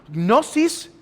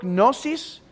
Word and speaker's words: gnosis: recibían cierta gnosis de ahí viene el gnosticismo gnosis cómo se pronunciarán lage al principio gnosis es la palabra griega por conocimiento y el